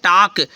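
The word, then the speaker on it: talk: है ठीक है जैसे टी ए एल के टक ये नहीं कि इसको टलक कहो टलक आपका गलत हो जाएगा ठीक है ओके अब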